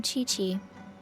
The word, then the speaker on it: Qiqi: I am Chi-Chi. Chichi spricht man das aus. Ich hab's mal Kiki genannt.